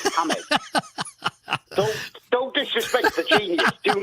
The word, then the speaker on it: James: can i just say his name is james isn't it it's hamed don't disrespect the genius do not disrespect the genius fella hi hamez okay i'm amazed rodriguez